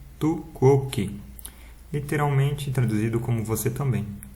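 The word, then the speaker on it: tu quoque: com mais detalhes e pronuncia-se tu kok literalmente traduzido como você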